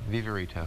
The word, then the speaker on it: Viverito: Gard how do you say your last name vivito vivito I like that nice good great Italian